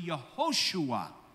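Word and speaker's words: יהושע: Now, Yeshua is actually not the full pronunciation of the name, because the name is actually the exact same as Joshua. So when you look at the name Joshua, it's actually Yehoshua.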